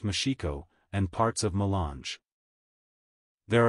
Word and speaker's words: Moxico: districts of bengela B moxico pronounced mashiko and parts of mange